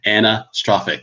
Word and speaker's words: anastrophic: if i knew anna so it's like so anna strophick right you know so now now now i